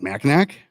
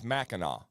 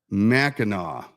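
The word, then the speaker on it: Mackinac: mean the ma uh like macac no so that's what everybody says it's maau maau see the the the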